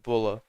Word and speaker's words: Buller: it was bua and it's Buller even though it's pronounced bulla by everyone I've ever met I remember the road